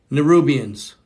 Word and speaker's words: Nibiruans: Nerubians. Nerubians. Thank you. Nerubians. Thank you very much. See, why did they spell it N-I-B-I, though? They're spelling it N-I-B-I-R-U-A-N-S. Nibiruans. Nibiruans.